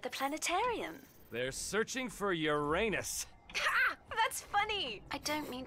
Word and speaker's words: Uranus: planetarium they're searching for Uranus that's funny I don't mean to be a prude but please no jokes about Uranus the proper pronunciation is Uranus it's a dactyl sorry Friday oh I